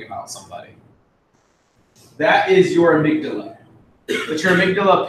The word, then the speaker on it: amygdala: we're gonna talk about the amygdala yeah it's how it's pronounced I know it looks weird the amygdala is near the